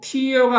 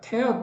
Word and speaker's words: tear: 그리고 tear가 아니고 이거 발음이 tear인데요. 무너뜨리다요. 그러니까 찢어버리다. tear down shelter 할 수 있습니다.